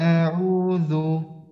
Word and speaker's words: أعوذ: এরপরে উচ্চারণটা আসবে হামজা জবর আ, হামজা জবর আ। হ্যাঁ, তো এরপরে পড়েন দেখি আবার। أعوذ হ্যাঁ হ্যাঁ হ্যাঁ, মাশাআল্লাহ।